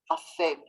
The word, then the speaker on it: אפל: הראי, the mirror, afel is the one that's dark, right? Rhymes with agartel.